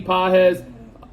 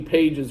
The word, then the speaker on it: Pages: and two plus hits I think I actually pronounced Andy's name correctly as I was calling him Andy Pages for the first few weeks of the Season uh so hopefully I